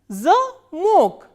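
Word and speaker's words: замок: a, ma, o, ka, but here in this word stress has shifted to on the vowel O. So, how will we pronounce this word? Zamok, zamok.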